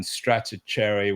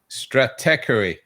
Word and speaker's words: Stratechery: Steve Gilmore has trouble with it as well, but it's Stratechery. Stratechery rather than That's a GM.